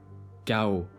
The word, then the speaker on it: chaos: But in the words of Greek origin is pronounced as Que, Example: archaïque, chaos.